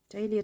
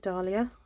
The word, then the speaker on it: dahlia: that down behind the donut dalia dahlia i seem to use the two pronunciations quite you know interchangeably okay right and then